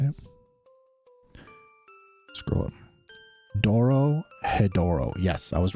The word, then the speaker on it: Dorohedoro: Dorohedoro.